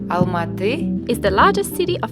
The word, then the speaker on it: Almaty: maybe a little bit lost on Marty or better pronounce Almaty is the largest city